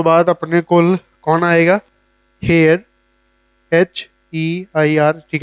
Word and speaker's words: Haier: सो हुण अगर मेरा हेयर्स इत्थे बैठा है, हेयर्स दे सेकंड लेफ्ट ते कौन है, सैमसंग, क्लियर।